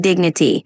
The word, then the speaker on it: dignity: Just a tiny note, when you say dignity, just emphasize the first syllable like dignity.